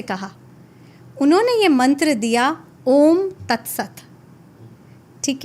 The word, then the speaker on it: ओम: इसको डिवाइड किया जाता है 20, 30 और 50% में। 20% ये स्टार्ट होता है हमारी नाभि से। और यहां से उच्चारण शुरू होता है आ। फिर हमारी छाती में 30% और इसका उच्चारण होता है ओम 50% हमारे होठों पे